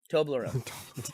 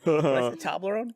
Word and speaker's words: Toblerone: from is that Swiss Toblerone Toblerone table road what a crazy mispronunciation that was like a wet